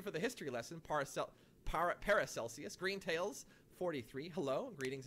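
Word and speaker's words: Paracelsus: uh para calcius is pronounced like celsius par para celsius uh he's an ancient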